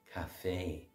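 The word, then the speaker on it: caifé: drink coffee, is similar, except that there's a fada on the E at the end, so a little bit stronger on the second syllable. Cafe.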